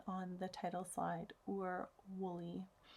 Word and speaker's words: Wullie: War Willie and yes I did pronounce and spell that correctly on the title slide or Wooley w UL li e I actually look it